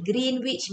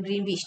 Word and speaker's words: Greenwich: Dia kata, yang garisan kita pronounce dia Greenwich lah. Greenwich. Tapi, in Malaysian, we always say Greenwich.